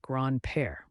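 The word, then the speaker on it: grand-père: bond in the family Grand pair means grandfather pronounced gr PA grandfathers are often seen as wise and experienced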